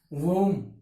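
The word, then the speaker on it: womb: वूम। बे क्या रहेगा इसमें? बी क्या रहेगा? साइलेंट, इसलिए क्या बोलेंगे? वूम, न कि वूम। क्या बोलेंगे? वूम, क्योंकि बी क्या रहेगा इसमें? साइलेंट रहेगा।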